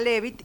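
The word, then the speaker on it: Leavitt: y como hizo Henrieta, se escribe Leabit, Henrieta Levit a ella le pagaron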